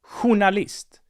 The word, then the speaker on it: journalist: a genius and then we have the word hunalist spelled with a j journalist so we have 12